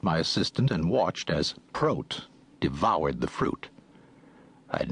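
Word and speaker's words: Prot: My name is Pro. He pronounced it to rhyme with goat, not hot.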